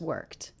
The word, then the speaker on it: worked: Do you notice that the ED ending here is pronounced as a T sound? That's because the sound before, the K, is unvoiced. So this ending will also be unvoiced.